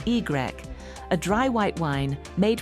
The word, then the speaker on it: Y: In 1959, Yquem introduced Y, pronounced Y, a dry white wine made from the same vineyards but vinified without botrytis.